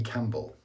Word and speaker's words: Campbell: Sterling Campbell, P is silent.